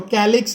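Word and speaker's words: calyx: Part से बना है, कुछ कुछ टीचर्स को कैल्क्स भी प्रोनाउंस करते हैं, कैल्क्स, ठीक है, और मैं इसको कैलिक्स बोल रहा हूँ, कैल्क्स भी बोल सकते हैं।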